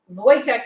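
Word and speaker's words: Wojtek: was christmas in english sometimes spelled voyage and pronounced as such voytek was a syrian brown bear bought as a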